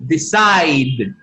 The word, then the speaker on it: decide: Decide. Decide. Decide. Decide. Decide. Remember, this E is mute. Doesn't sound. Doesn't produce sound. Doesn't have sound.